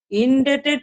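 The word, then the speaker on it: indebted: যে টু, ইনডেটেড টু, ইনডেটেড টু ইউ, ইনডেটেড, এটা উচ্চারণ মনে রাখবে, ইনডেটেড বি এর উচ্চারণটা হয় না, ইনডেটেড টু ব্যক্তি, ইনডেটেড টু ব্যক্তি, কোনো কারণে ফর।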